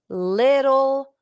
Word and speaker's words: little: Carla's health seems to be improving little by little. ¿Cómo se dice, cómo se pronuncia little? Little. Pero la T, little, es casi como una D o casi como una R.